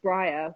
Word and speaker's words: Bryr: It's bria, I think is how you pronounce it. And it means to care. But we pronounce it briar, which is, I'm English,